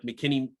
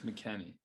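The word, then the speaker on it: McKennie: well when mckinney's out we looked at like mckinney got a yellow against mexico missed the jamaica game we lost it's mckenney not mckinney mckinnon pronunciation what are you texas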